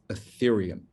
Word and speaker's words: Ethereum: It's pronounced Ethereum.